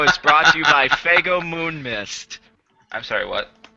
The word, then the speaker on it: Faygo: it's guys guys guys it's called swago God damn it it's Faygo f-a-y it's f-a-y-g-o space